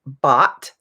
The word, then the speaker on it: bought: and could all right another uh really common word that sometimes is difficult to pronounce is the word bot it's the past tense of to buy so if i want